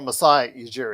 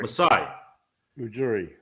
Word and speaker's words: Masai Ujiri: I can never pronounce his name. Ujiri? Oh, Masai Ujiri. Masai Ujiri.